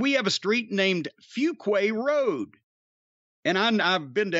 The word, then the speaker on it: Fuquay: again to turn around and get back onto Fuquay Road, which is how we pronounce it now.